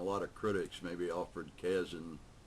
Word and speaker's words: Kazin: John Barth, and I think many other writers and a lot of critics, maybe Alfred Kazin, I always pronounce it Kazin, but I think it's Kazin, all say that self-consciousness contributes a great deal to writing.